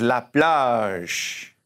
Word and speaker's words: la plage: And the beach is la plage.